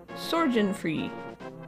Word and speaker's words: Sorgenfree: Sorgenfree. It's with a soft G.